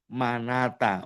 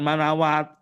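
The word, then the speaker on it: مناة: Manata, wa manatat salitatal ukhra. An-najat, ya, waya qawimali ad'ukum ilan najati. Nah tuh, najati itu seharusnya apa? Ini alifnya ditulis dengan wawu. Jadi manat, jangan manawat.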